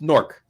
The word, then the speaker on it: Newark: Newark it's yeah well it's one syllable it's Newark but it's norc anyway speaking speaking of